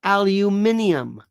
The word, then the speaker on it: aluminium: fascinating Stephen Lynch says aluminum or aluminium and there are two different ways to pronounce it you know that right they are completely acceptable completely same thing spelled pronounced differently if you're in the UK what I want people